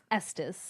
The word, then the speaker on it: Estes: Um, and his blue bloodoods co-star Will Estes, is it Estes or Estus? Estus.